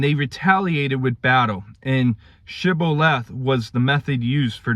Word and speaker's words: shibboleth: pronounce the word and if they mispronounced it by an s rather than a sh sound then it it would